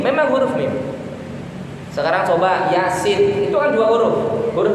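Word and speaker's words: يس: Makanya Yasin, ya-nya dibaca pendek seperti mat tabi'i, sin-nya dibaca panjang. Yasin, alif lam mim ro.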